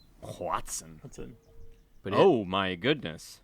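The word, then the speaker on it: Hoatzin: I think of all the spell that it's H O A T Z I N. Watson.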